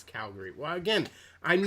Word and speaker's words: Calgary: so it's it's not it's not calvary it's calgary well again i'm not